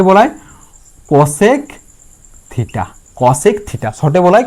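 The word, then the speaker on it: cosec: আমাদের কোসেন্ট কে উচ্চারণ করা হয় কি? কোসেক।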